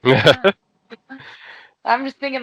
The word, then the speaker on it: seitan: It's not Satan. It's like Seitan.